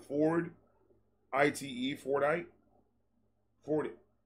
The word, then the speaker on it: Fordite: The layers in it are called Fordite. I don't know how to pronounce it. Ford. I-T-E.